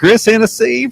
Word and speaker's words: Hennessy: When your last name rhymes with Tennessee, Yeah. it's Yeah. only fitting. You know? Yeah. Hennessy from Tennessee.